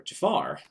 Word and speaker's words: Jafar: would be jalopy scar not scar jafar rhymes with scar but this is jafar